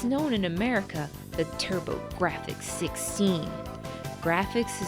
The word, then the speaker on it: TurboGrafx: This was made for the PC Engine home console, or as it's known in America, the TurboGrafx 16. Graphics is spelled GRA-FX for puns.